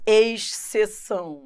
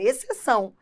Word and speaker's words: exceção: é por isso que a pessoa erra a pronúncia fica assim exceção não é exceção é exceção só que o x se separa do c na separação silábica Então isso é só